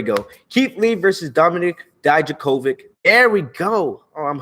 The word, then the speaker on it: Dijakovic: I always say his name wrong. Dijakovic. There we go. Yeah, Keith Lee versus Dominic Dijakovic. I'm trying to say his name right, people. Dominic Dijakovic. There we go. Keith Lee versus Dominic Dijakovic. I keep thinking the K is a J.